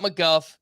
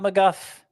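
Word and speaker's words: McGough: it's a fellow Scott Scott McGuff yeah mcg-o-u-g-h is how you spell that and he was a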